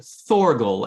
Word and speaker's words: Thorgal: the Vikings so so nobody knows how to pronounce it for a for a English speaker it would be thorgal as in like Thor the guard God thorgle